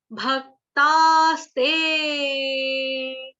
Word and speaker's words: भक्तास्ते: है, मात्रा एक ही, ते के बाद अवग्रह, अवग्रह का उच्चारण कुछ नहीं होता, एस जैसा जो निशान देख रहे हो, उच्चारण उसका कुछ नहीं होता। अ था यहाँ पे, अ जो हो गया लुप्त, लुप्त का मतलब अ गायब हो गया, अब जब गायब हो गया तो उसको बोलना भी नहीं है, एस जैसा निशान जो दिखाई दे रहा है अवग्रह, उसका उच्चारण कुछ नहीं होगा।